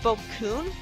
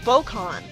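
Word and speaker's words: Bokkun: for him that's threatening goku's pronounced bokun my whole life i thought it was pronounced bokon though the u in it i guess i should have pronounced it book hun but anyways the robot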